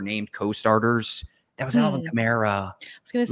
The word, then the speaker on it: Kamara: That was Alvin Kamara. I was going to say, does it rhyme with Shamara?